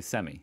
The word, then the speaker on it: semi: half, then I'd say semi. It's pronounced semi, but yeah, I know some Americans who say it the Australian way, the semi way.